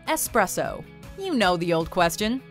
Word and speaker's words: espresso: appears to be yes it's clearly spelled espresso with an S not expresso with an X and yet many continue